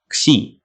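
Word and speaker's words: ξι: introducing the letter Z or as Greek people pronounce it C this letter also exists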